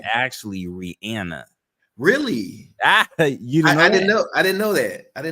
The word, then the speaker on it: Rihanna: with you know Rihanna like we all call Rana but it's actually Rihanna really you know I didn't know I didn't